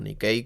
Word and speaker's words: Nike: en relocalizar entre ellas Nike como decimos aquí Nike o Nicki como me dijeron que en realidad se pronuncia la marca de ropa